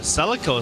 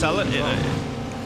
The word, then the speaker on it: Celica: Is this Celica? I'd say Celica. Is this is this Celica or Celica? I've Celica, but I think Americans especially can be more prone to pronouncing it Celica.